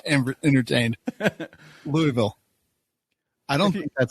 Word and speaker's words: Louisville: Learn how to write phonetically. It would be L-U, Lou, E-H, and Ville would be V-I-L.